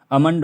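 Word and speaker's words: almond: rule है यह है एम एम से पहले आया एल भी साइलेंट होता है चौथा रूल हैय कर लेना है जैसे कि एम एम जो है जैसे कि अमंड हो गया अमंड अमंड अमंड है ना अलमंडा हम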